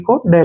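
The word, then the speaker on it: could: ओ यू एल डी सी ओ यू से बना कु और हमने नहीं पढ़ना है डी को ड लिखेंगे कुड क्या बन गया कुड कुड मतलब सका कुड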